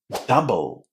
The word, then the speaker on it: double: ways in English, but in here we are pronouncing them as a short a in exactly the same way as we would say cut or but double.